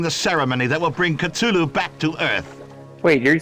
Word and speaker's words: Cthulhu: Dietrich and the Rakamus are already celebrating the ceremony that will bring Cthulhu back to Earth. Wait, you're saying Cthulhu?